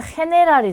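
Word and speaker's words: general: 자, 이 경우에는 흐 발음을 합니다. 그래서 얘는 히간테가 되고요. 얘는 헤네랄이 되는 거죠.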